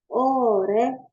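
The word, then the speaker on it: 올해: or ya ore o walaupun nulisnya ginihe Tapi bacanya nya ole ore or ini kenapa dibacanya ore kalau kita lihat di sini ya huruf r di bawah sini kan jadi l tapi karena sebelahnya itu H dia Harus dipindahin ke sini bacanya gitu Jadi oreh oreh oke nah yang berikutnya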